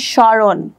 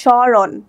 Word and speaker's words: স্মরণ: এখানে স্মরণ, এখানে মটা উচ্চারিত হয়নি। স্বর্ণের ক্ষেত্রে মটা উচ্চারিত হয়নি, কারণ এখানে ম ফলাটি উজ্জ আছে, এখানে জাস্ট উচ্চারণ হয়েছে স্মরণ, ঠিক আছে।